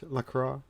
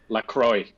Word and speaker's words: LaCroix: exploring the cult of Lacroix the pronounce that right Lacroix there are two ways of saying it many people who are fancy like to use the French way to go with liqueur and then there is